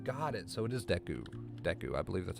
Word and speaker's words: Deku: Deku Scrub?